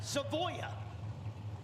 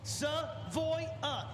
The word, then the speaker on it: Savoya: Seavoya. Savoya. It I promise you it's three. I've been told multiple times now. I got told today. SO three syllables.